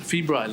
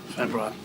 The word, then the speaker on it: febrile: an example well febrile but it's a febrile isn't it well i used to say february how embarrassing i know someone